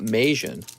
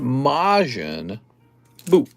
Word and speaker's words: Majin Buu: male gaze not the male gays majin not majon i thought it was pronounced mayonnaise all right the star wars cards dude star